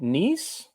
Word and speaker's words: Neiss: Neiss?